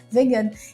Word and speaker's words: vegan: Na verdade se escreve vegan, como em inglês, mas aí pronunciam a francesa vegana.